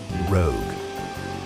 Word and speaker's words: Rogue: what your heart desires remember it's pronounced rogue Coover go rogue and clean differently